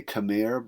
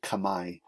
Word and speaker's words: Khmer: The capital of the Angkor kingdom was called Angkor Thom, and the people themselves were called, we would say Khmer, but they say Khmer in Cambodia. Khmer is pronounced Khmer.